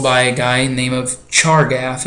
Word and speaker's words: Chargaff: a guy named of chargaff is how you say that pretty much just how it's print harder just how it looks and he said that